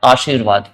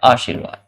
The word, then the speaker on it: आशीर्वाद: अब यहां पर आशीर्वाद करें तो आशी र वा तो व के ऊपर जाएगा ना कि ये शी के ऊपर जाएगा। क्यों? क्योंकि र का जो उच्चारण हो रहा है वह जस्ट व से पहले हो रहा है।